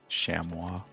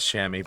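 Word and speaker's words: chamois: Shamwa. Blame the French. Yeah, that's definitely how it's that's definitely how it's spelled. I know it is shammy, but still.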